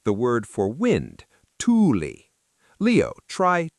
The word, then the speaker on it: Tuuli: Like the word for "wind": Tuuli. Leo, try Tuuli.